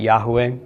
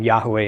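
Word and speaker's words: Yahweh: familiar with this already I'm chosen to pronounce it Yahoo a just because that is the most common pronunciation I'm not saying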